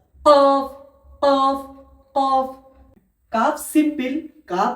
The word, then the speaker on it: قاف: কফ, কফ উচ্চারণ হবে আপনার এই কলকলা, গলার এইখান থেকে একটু ঝাটকা দিয়ে কফ, কফ উচ্চারণ। কফ কফ কফ।